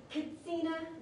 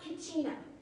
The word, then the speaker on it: Katsina: I've been told that in Hopi, they don't have the H, so it's not Kachina.